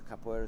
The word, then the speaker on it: capoeira: So capoeira, is that how you pronounce it?